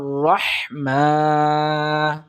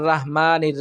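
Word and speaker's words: الرحمن: রহমান আর রাহমান আর রাহমানির রাহিম এরকম পড়ার চেষ্টা করি কিন্তু এটা সম্পূর্ণটাই ভুল সুতরাং সহি হলো আর রহমা আর রহমা রহমা রাহমা বলবো না আমরা আমরা বলবো রহমা এরপর দেখুন নির রাহিম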